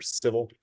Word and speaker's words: Civille: VP of Strategy and Operations for Civille. It's pronounced Civil, although it's spelled Civille or Civille, depending on your language of origin.